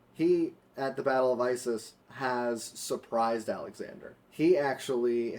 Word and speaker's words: Issus: So he actually, at the Battle of Issus, but if we wanted to say it correctly, Issus. Issus. It's Okay. Issus, not Isis.